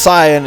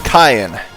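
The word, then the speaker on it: Cyan: own now remember or it's not pronounced Sian is kyon sounds similar to Cain so make it a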